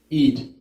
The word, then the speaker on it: Eid: And Ide, did I say that right? Eid.